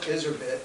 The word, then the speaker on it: Charlotte Iserbyt: Shortly after the Turchenko report, a woman named Charlotte Iserbyt, or Iserby, I've heard it pronounced both ways, she arrived on the scene.